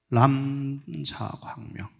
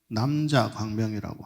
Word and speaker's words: 람자광명: 이 경상도 사람은 람자가 발음이 잘 안 됩니다. 그렇죠? 남자광명이라고 하다 보니까 자칫 잘못하면 남자광명이라고 생각을 하죠. 근데 원래는 람입니다. 람. 옴밤람 함캄 대교주 할 때 옴밤람 할 때 그 람이에요.